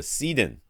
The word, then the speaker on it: Seaden: his home theater, the Seaden. That's what it looks like. Seaden. I would call that Seaden. Anyways, he's a Seattle Seahawks fan, so it's the Sea-Den, like a lion's den, but for Seahawks.